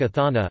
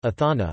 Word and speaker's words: Ἀθάνα: Attic Athena, Athena, Ionic Athene, Athene, and Doric Athana, Athana, or Athena took her name from the city.